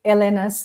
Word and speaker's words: Elena: So you can find Elena at, I always say Elena's name in Spanish. My pronunciation. So for me, she's Elena. Elena.